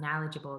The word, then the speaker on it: knowledgeable: become more knowledgeable i'm knowledgeable the k is silent and the passion acronym